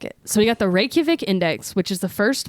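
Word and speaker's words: Reykjavík: so the next thing i got is the reykjavic i didn't say it right rey could what about a k and a j next to each other be so the next thing we got is the reykjavik index if we're wrong it's okay you could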